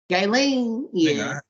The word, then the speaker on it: Ghislaine: lady for gay lane yeah that's how you say her name gailene i've been trying to figure out that name for i don't know i didn't put a hard g on that [ __